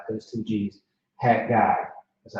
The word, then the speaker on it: Haggai: Yeah, Haggai is how you say it. It's like there's two G's. Haggai.